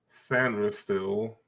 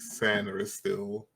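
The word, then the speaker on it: Sainristil: and got and drafted Mike sandr still that's that's officially how you pronounce it Mike San still San still um I ain't gonna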